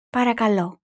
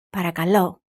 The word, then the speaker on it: παρακαλώ: Then repeat after me, focusing on pronunciation. Ready? Do you remember how to say please? Παρακαλώ. Παρακαλώ.